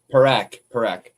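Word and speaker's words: Parekh: Oh, I'm very impressed with I don't want to mispronounce his name, but is it Parketh? The Parak.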